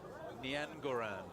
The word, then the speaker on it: Niangoran: And he said, Niangoran. And I said, because it's spelled Niajoran in French. And he goes, that's how it should be said.